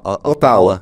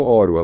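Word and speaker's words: Ottawa: é oro né você a gente fala otau É otau mas eles pronunciam orua lá então oro é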